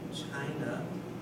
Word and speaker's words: China: China, we need to stress the first syllable.